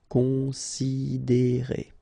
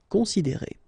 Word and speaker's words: considérer: Considérer, okay, same thing here, you get this accent aigu, and then the sound is E. Considérer. Considérer.